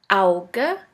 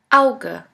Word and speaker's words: Auge: The second letter combination is AU, which is pronounced like ow. Here we have the example of the word Auge, which means eye.